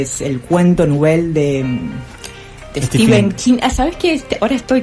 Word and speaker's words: Stephen: el cuento novel de Steven King. ¿Sabes que ahora estoy que tengo pronunciación? Me corrigieron que no se dice Stephan, se dice Steven.